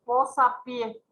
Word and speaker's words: posapié: Ejemplo, posapié. Posa, tenemos la sílaba tónica acá siendo palabra simple. Pie en la última sílaba. Al juntarse, entonces lleva tilde por ser una palabra aguda terminada en vocal.